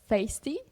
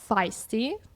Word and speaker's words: Feisty: I was reading it as feisty. It's actually pronounced as feisty.